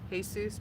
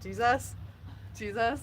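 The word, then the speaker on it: Jesús: one of them said I know how to pronounce hey soos because it was spelled Jesus and I was like she would go out to be like Jesus Jesus I was like no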